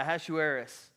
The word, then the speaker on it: Ahasuerus: Now it came to pass in the days of, anybody want to guess how you pronounce that? Yeah, Ahasuerus.